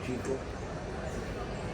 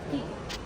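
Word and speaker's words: Chicco: Rubber nyo, Chico. Meron din kaming brand na Kiko. Chico. At pala black pinili. Kiko nila. Kiko ko talaga. Ang pronunciation talaga, Kiko.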